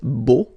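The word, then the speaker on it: beaux: it's B okay so you put this x at the end but then you don't pronounce it so it's Bo all right B final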